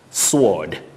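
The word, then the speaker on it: sward: is in literary language sword an area of grass that is s-w-a-r-d sword sword but the weapon that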